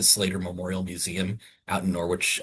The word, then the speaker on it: Norwich: Memorial Museum out in Norwich. I should say Norwich. There is no way to not pronounce that R more because as Tony and I learned when we went up there, it is Norwich.